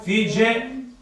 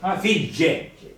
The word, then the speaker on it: figge: Tre Sì, belle figge, belle, ora come in italiano, figge, non è figgie, figge, non figgie, figge.